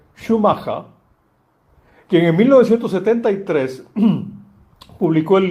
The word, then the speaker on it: Schumacher: En su patria alemana pronunciarían Schumacha.